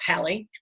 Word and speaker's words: Halle: mispronounce her name but it's like Halle Berry so it's Halle okay sometimes I slip and call her Holly or whatever but yes